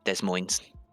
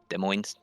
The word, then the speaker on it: Des Moines: Because I believe he's from Des Moines. Des Moines. Des Moines. Des Moines. Neither S is pronounced.